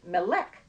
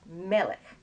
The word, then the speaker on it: Melek: of the universe and if you don't know you might say molec but that's not how it's pronounced it's melon and if you talk